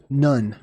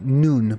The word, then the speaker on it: nun: enigmatic mysterious uh word none or it's actually noon because of the pronunciation of the VAV originally was ooh right so noon